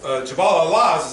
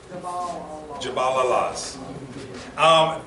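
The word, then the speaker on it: Jabal al-Lawz: So Jabal al-Laz is actually in Saudi Arabia.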